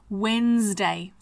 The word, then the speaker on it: Wednesday: but the pronunciation is with a zed and the D is silent Wednesday Thursday again t h